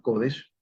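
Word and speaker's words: קודש: Recuerden que Ruach HaKodesh, Kodesh lleva el acento en, es un acento que, bueno, para nuestro español sería grave en la penúltima sílaba, Kodesh.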